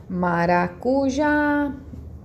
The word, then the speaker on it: maracujá: Eu sei que minha última sílaba é tônica. Maracujá. Então, a que eu falo mais tempo é o já.